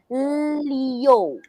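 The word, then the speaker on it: 六: i you is yo this is pronounced as yo we'll just add l in front leo that is number six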